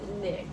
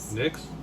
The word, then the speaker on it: NYX: uh nyx uh what is ny nyx it's pronounced nyx nyx cosmetics that's what you wear right cosmetics you